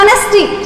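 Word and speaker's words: honesty: उसके बाद हो गया एन ऑनेस्टी, ये ऑनेस्टी नहीं बोला जाएगा, क्या बोला जाएगा ऑनेस्टी, क्या होगा एच साइलेंट होके किससे प्रोनाउंसिएशन होगा इसका ऑनेस्टी।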